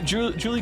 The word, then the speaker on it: Julie: Since we're in the mood for correcting pronunciations, let me drop the fact that both of you are pronouncing Julie wrong. It's Spanish. It's Juli, like Juli.